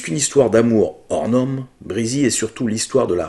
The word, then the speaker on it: Breezy: brésil alors notez que j'ai moi même prononcé prizzi en mode bretzel pendant longtemps avant d'entendre la bo du film on dit bien président breezy étant le surnom choisi